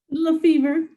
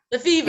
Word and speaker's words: Lefever: Is it Lefever? I'm making it French. Is it? How do you pronounce it? Lefever. Lefever.